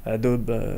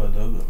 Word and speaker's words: Adobe: utilisateurs francophones disent plutôt Adobe. Adobe, ouais. On est français avant tout, donc on a du mal à prononcer le E comme un I, mais ceci dit, en anglais, c'est vraiment le cas.